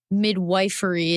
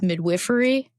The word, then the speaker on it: midwifery: So a midwife practices not midwifery, it's midwifery. Mm-hmm. Yeah, it's spelled midwifery though, so it's confusing.